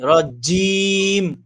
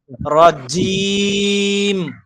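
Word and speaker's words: رجيم: একদম শুরু হবে রজিম জোরে রজিম এইযে এই জায়গাটা দুই পাশের এই জায়গাটা যদি কাপনি ধরে ঝিঝি করে উঠে তাহলে মনে করবেন জিমের উচ্চারণ পরিপূর্ণ হইছে রজিম এইতো হয়ে আসছে আরো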